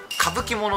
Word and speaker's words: 傾奇者: 私調べましたこれ歌舞伎物って読むらしいですよえ歌舞伎者そう